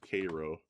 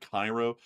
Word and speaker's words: Cairo: Also, by the way, folks, some of y'all are like, "Isn't that Cairo?" It's weird. There's this town in Illinois called Cairo, but for some reason it's called Cairo. I don't even know why.